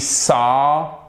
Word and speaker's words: saw: We saw. Alors, c'est pas un we saw, c'est pas un A, c'est entre le A et le O tout de même, mais ça se rapproche un peu plus du A.